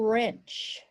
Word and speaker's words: wrench: Or wrench. Remember that W is silent, so we don't hear it.